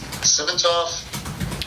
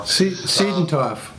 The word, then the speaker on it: Siedenthoff: And I checked with Dave Simontoff. I always pronounce his last name wrong. Siedenthoff.